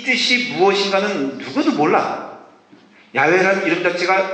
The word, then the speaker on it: 야훼: A 그 다음에 E가 들어가서 야훼가 됐다는 것이에요. 그래서 정확히 말하면 이것은 신비의 언어예요. 그러니까 이 뜻이 무엇인가는 누구도 몰라. 야훼라는 이름 자체가 발음이 맞는지도 모르고 그것이 하나님의 이름인지도 사실은 정직하게 말하면 몰라요.